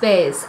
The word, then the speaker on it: BEIS: got baggage flatted space it's b e i s but it's pronounced base i think i'm pretty